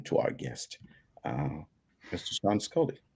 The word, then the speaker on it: Sean Scully: It is Sean Scully, and Sean actually is part of the family of the distillery.